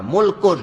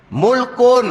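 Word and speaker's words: مُلْك: kepunyaan milik milik kepunyaan ejaan dia sama mim lam Kaf tiga huruf baris dia lain makna dia lain nak baca baris macam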